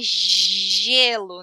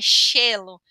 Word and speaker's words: gelo: A palavra é gelo, não é chelo.